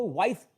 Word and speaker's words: voice: तो इस प्रोसेस से हम लोग उसको वॉइस पुकारेंगे, ना कि वॉइस पुकारेंगे।